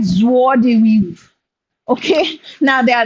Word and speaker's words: joie de vivre: We pronounce like joie de vivre.